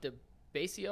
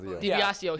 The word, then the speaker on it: DiBiasio: This was from Bob DeBasio. I'm going to say his name. DiBiasio.